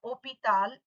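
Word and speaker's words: hôpital: Hospital will be pronounced as opital in French.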